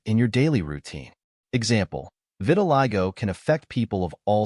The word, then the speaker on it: vitiligo: spelled as V T I go the correct pronunciation of this word is vitiligo Vitiligo means a condition in which the pigment